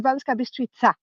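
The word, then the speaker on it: Banská Bystrica: English speakers, we are not used to different pronunciation. But yeah, you are saying it right. It's Banska Bystrica, but it's otherwise it's perfect.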